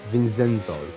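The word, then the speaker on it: Vincenzo: gone back to saying Vinceno. Yeah, I think it's better how I pronounce. How do you actually pronounce it though? Vinsenzo.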